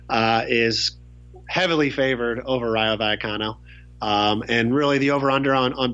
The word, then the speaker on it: Vallecano: Vallecano.